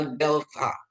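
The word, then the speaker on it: δέλτα: Terus ada delta. Delta itu ee dia lebih ke DH bukan D tapi dia ya Bapak Ibu ya.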